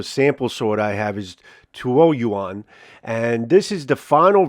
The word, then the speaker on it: Tuoyuan: I think the proper pronunciation of this particular sample sword I have is TUOYUAN, and this is the final version of the TUOYUAN sword that I have.